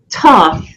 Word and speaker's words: Thoth: So, Thoth, right? And the first H is silent, right? Is it Thoth? You can call him Thoth or Thoth or Thoth. Various different ways.